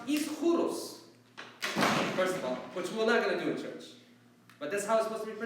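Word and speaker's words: Ἰσχυρός: It's supposed to be pronounced Ischuros, first of all, which we're not going to do in church. But that's how it's supposed to be pronounced. The Greek word is supposed to be Ischuros.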